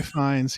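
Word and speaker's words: Fiennes: I'm not going to say his name Ray fines yeah right Rafe yeah Rafe I love him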